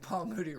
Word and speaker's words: Paul Moody: would always be like paul moody rhymes with duty paul moody or something